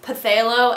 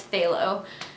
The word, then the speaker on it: phthalo: Also, in the video, I kept pronouncing phthalo as pathalo, and I know that's not how you say